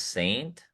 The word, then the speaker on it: SXXNT: guys that put it together's name I think it's pronounced Saint, but it's SXXNT.